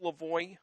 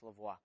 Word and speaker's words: Lavoie: Is your name pronounced Lavoie? That's correct. Okay. Unless you're in Quebec, then it's Lavoie.